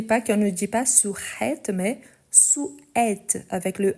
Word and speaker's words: souhaite: Ensuite, on a nous, le verbe souhaiter une joyeuse fête à tous. Nous, le verbe souhaiter une joyeuse fête à tous. Parfait. Ici, surtout pour ceux qui sont anglophones, n'oubliez pas qu'on ne dit pas souhaite, mais souhaite avec le H muet.